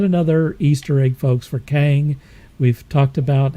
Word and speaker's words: Kang: i couldn't read it because of christians it's pronounced kang and we've talked about kang before folks in